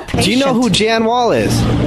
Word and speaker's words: Jan Wahl: How you pronounce it? Jan Wahl.